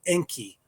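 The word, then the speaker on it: Encke: The tower meteors come from debris shed by comet Enki. That's spelled E N C K E which travels around the sun.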